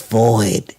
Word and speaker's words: void: the women did it's void is void and so I pronounce the word void wrong vo i D you made it two syllables when it's a one syllable word I pronounced it void